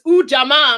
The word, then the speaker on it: Ujamaa: used to hear a dance teacher say it's Ujamaa. I'm like, okay, I got it. I got it. So Ujamaa, I'm going to read the definition again for our panel and our audience. Ujamaa, to build and maintain our own stores, shops,